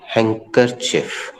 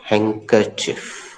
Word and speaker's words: handkerchief: लेकिन बोलते समय डी साइलेंट होता है और आर भी थोड़ी मात्रा में साइलेंट होता है। हैंकरचिफ, हैंकरचिफ, शॉर्ट में हैंकी।